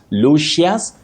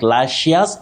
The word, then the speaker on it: luscious: Not lushus, not lashus fruit. It's shus. Shus. Not shus.